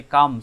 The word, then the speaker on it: calm: এই যে কাম, CALM, তোমরা অনেকে আবার কালম পরে থাকো, এখানে এলের উচ্চারণ হয় না, তোমরা জানো।